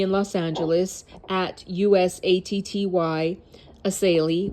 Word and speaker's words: Essayli: Attorney in Los Angeles at USATTY Assayli, which is spelled Essayli, launched, quote, Operation Guardian Angel, end quote, last week, and it's already forcing sanctuary jails to make transfers to ICE.